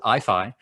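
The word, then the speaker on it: IAIFI: this ai institute uh it has an unpronounceable acronym but we pronounce it ifi and the goal of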